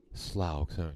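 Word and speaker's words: Slough: playing fields at SLO the city of slow slow thank you thank you pronunciation I didn't get that right all right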